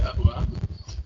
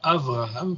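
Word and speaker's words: אברהם: Alors, bon, je comprends le fait que vous prononciez Abraham, mais en hébreu on dira Avraham, puisqu'il n'y a pas le dégage.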